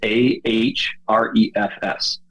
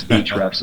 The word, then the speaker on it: Ahrefs: called hrefs which is a h r e f s so it looks like ah refs but it's speech refs is how they say it a-h-r-e-f-s yeah